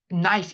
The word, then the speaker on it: knife: knife. 이거 큰 나이프 아니에요. 제발 K에는 크느라고 읽지 않아요. 그냥 느로 읽어요.